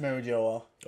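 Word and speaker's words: Mariejois: no the Japanese right they don't know how to pronounce French words yes Mary Jo ah clearly friends it's pronounced Mary Jo ah ok one piece wiki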